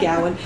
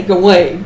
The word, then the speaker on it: Gawain: I say that because I had a Brit Lit professor who pronounced it Gowan, but most people say Gawain, but I probably will keep on saying Gowan.